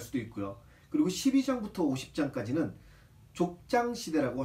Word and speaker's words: 족장: 그리고 12장부터 50장까지는 족장 시대라고 할 수 있습니다. 발음에 주의하세요. 젖장 아닙니다. 족장. 정확하게 족장 이렇게 얘기를 해야 돼요.